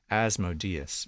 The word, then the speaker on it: Asmodeus: which sword i use how do you pronounce asmodius probably huh oh asmodeus okay not what i would have guessed we'll go with that